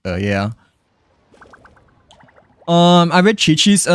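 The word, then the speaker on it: Qiqi: as well, you know, until someone mentioned that it's pronounced chi-chi.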